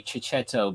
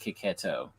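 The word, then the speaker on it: Chiechetto: print uh okay so I like to say chichetto but uh it's pronounced kiketo but um I love I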